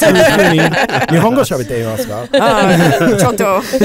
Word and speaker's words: Iwakuni: It's pronounced Iwakuni. It is pronounced Iwakuni.